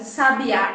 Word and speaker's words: sabiá: bem assertivo por exemplo a palavra sabia sabiá e sábia são palavras que tem a mesma grafia o que muda de cada uma delas é aonde nós marcamos a sílaba tônica então quando eu falo